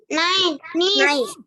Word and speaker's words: niece: Niece. Niece. Bunyinya niece. Tulisannya seperti ini, tapi bacanya niece.